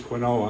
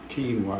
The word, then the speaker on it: quinoa: Actually, it's quinoa, I'm sorry. I don't know why somebody would pronounce it quinoa. It's supposed to be K-E-A-N-A.